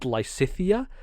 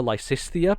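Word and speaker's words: Lysithea: fire emblem three houses who is called lysitthia but i call her lysisthia because i think that just sounds better and uh should be an extra s in there and it flows better off my tongue so i say lysistia and i think that's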